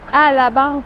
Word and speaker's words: à la banque: Donc je suis à, je suis à, puis à la banque, on prononce juste à la banque.